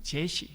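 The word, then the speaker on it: Jesse: 영어식 발음으로는 제시, 그럽니다.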